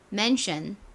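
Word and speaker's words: mansion: 이렇게 적어 놓기도 하셨더라고요 근데이 숀보다는 션에 더 가까운 소리가납니다 요거 발음 한번 따라해 볼까요 대저택 맨션 한 번 더 해볼게요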